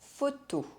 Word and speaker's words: photo: The letters PH make the sound F, une photo.